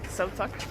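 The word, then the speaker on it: selv tak: Selvtak, because Selvtak.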